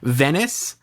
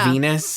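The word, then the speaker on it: Venis: uh Cory Michael Smith's character's name is Venice not Venus uh and it's spelled like penis but with a V.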